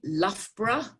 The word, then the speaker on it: Loughborough: number three is a place in the uk loughborough that you may have heard about and you spell that l o u g h b o